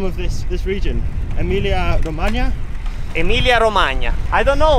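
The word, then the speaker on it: Emilia-Romagna: Yeah, first question, how do you pronounce the name of this region? Emilia Romagna?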